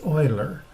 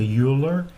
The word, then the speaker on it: Euler: Now, I mispronounced his name for many, many years, but it's Euler, like someone that's drilling oil wells. As opposed to Euler, it's not Euler, it's Euler.